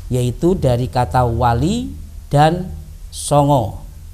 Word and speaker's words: Songo: Anak-anakku sekalian, Wali Songo adalah terdiri dari dua kata, yaitu dari kata wali dan songo. Kalau orang Indonesia sanga, tapi kalau orang Jawa bacanya songo.